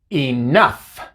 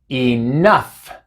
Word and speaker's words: enough: Por ejemplo, en la palabra laugh, laugh, así se pronuncia, laugh. Cough, cough, tough, tough, enough, enough. No son muchas palabras en las que la G y la H juntas hacen el sonido de la F, pero son algunas y